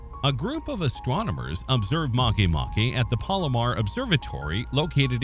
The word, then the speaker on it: Makemake: As a curiosity, the name of this object is pronounced like this, as it is written, as much as it may seem a repetition of the word make.